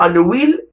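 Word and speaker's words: Anouilh: الكاتب ديالها جون انوي، كتكتب انويل، كتكتب انويل افيك ال اش، ولكن كتنطق جون انوي.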